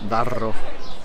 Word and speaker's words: Darro: el cauce del río Darro, con dos R's, muy difícil de pronunciar, Darro.